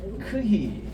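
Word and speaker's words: χι: 그 다음 이제 마지막 넉자가 남았는데 이게 이제 프히라고 읽겠습니다. 프히. 이거를 영어로서는 F라고 하죠. FI. 그 다음 두 번째는 X 할 때의 크히.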